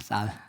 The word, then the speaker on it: 쌀: 있었습니다 거룩할 성 쌀미 쌀 발음 잘하죠 제가 쌀 보통 경상도 안 되는데 쌀 그래서 성미 거룩한이 쌀이라